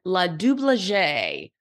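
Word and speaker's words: LaDoubleJ: Rose Monique lulier and LA dublagere or in layman's turns it's blood Double J but I think it's pronounced La dublagere found some super cute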